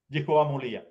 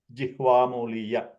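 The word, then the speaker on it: jihvāmūlīya: Okay, it generally the sound is like throat clearing kind of. So Jihvamuliya. Okay, so Kantya, like clearing the throat. Okay, and most of the times people pronounce as if it is another ka. Okay, but the right pronunciation, if there has to be illustrated, then it is like a gurgling, more of a gurgling kind of ka sound.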